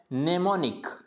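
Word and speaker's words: mnemonic: और NIC, यानी नेमोनिक, इसको M नेमोनिक नहीं पढ़ेंगे, इसको क्या पढ़ना है, नेमोनिक, यानी यहाँ पे जो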